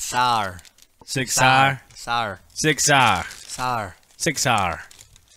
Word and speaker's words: Sig Sauer: Is it Sig Sauer? Or is it Sig Sauer? It's Sauer. Sig Sauer? Sauer. Sig Sauer. Sauer. Sig Sauer. Like you're from Pittsburgh.